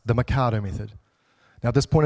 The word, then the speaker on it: Mikado: I'm like, no, I didn't say Mercado, I said Mikado. There's no R in there.